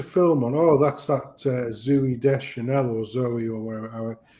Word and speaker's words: Zooey: Whenever there was a film on, oh, that's that Zooey Deschanel or Zoe or whatever. It's spelt Zooey, but I think she calls it Zoe or whatever crap like that.